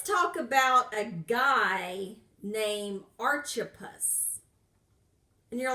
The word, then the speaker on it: Archippus: real so let's talk about a guy named Archie puss and you're like I've never heard of that